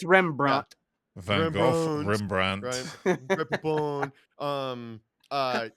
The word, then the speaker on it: Rembrandt: Did I pronounce that right? Rembrandt cheeky today. It's Rembrandt.